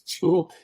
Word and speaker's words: Jewel: So in Mexico, it's hard to pronounce Jewel. The J is tough. It becomes like hello, so something like that.